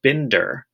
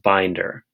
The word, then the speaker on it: binder: it should be pronounced Bender right because it's two syllables and that first syllable is closed b i n so it should be Bender but it's actually pronounced binder and the last word